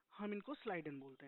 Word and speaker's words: Schleiden: देखो बहुत सारे लोग सील्डन प्रोनाउंस करते हैं। हम इनको स्लाइडन बोलते हैं।